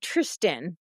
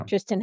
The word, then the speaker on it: Tristan: Yeah, it's like, Tristan, right?